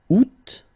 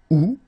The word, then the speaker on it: août: Janvier, janvier, février, février, mars, mars, avril, avril, mai, mai, juin, juin, juillet, juillet, août, but then it's possible to pronounce it août, septembre, septembre, octobre, octobre, novembre, novembre, décembre, décembre.